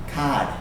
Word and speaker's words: card: next time you'll notice he does not pronounce the r because that is typical British English he said COD okay but don't make